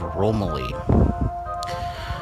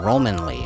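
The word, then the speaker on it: Romaly: We are in the Kingdom of Romilly. Or Romanly, actually. I believe that's how it's pronounced.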